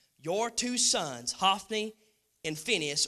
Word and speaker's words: Phinehas: Your two sons, Hophni and Phinehas, or some people pronounce it now Phinehas, were also killed in the ark of God had been captured.